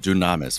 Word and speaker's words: Dynames: the pronunciation the HG dynames or Dynam I say dynames I could be wrong but I say dynames and the yeah I say dynames too okay the Japanese call it dunamis for some reason dunamis